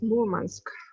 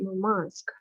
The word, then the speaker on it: Murmansk: I heard it that the accent should be on the second syllable, correct? Like Murmansk or Murmansk, which is better? No, the correct pronunciation is Murmansk. Okay. Only the sailors say Murmansk.